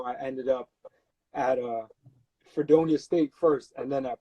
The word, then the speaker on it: Fredonia: How do you pronounce it? Fredonius? F like Fred Onia. So Fredonia State.